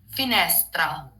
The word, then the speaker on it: finestra: So the right pronunciation for the word would be finestra.